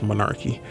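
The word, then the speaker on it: menarche: popular evolutionary theories on monarchy that's how you say it uh it sounds so weird they said monarchy sounds like malarkey but it's monarchy um explores the various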